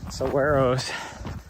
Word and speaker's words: saguaro: a little bit of saguaros, which I've discovered is how the locals say it, instead of saguaro, saguaro or something like that.